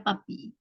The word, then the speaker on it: puppy: Puppy, bacanya papi.